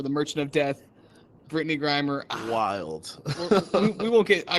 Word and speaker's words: Grimer: brittany greener greiner brandon had to pronounce my last name grimer all right you racist get it right muck crimer it's all pokemons to me dawg how do you not get it right still it's grimer so we know right